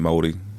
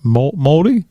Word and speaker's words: Māori: that I am a fan of with the Māori. Is that how you say it? Māori?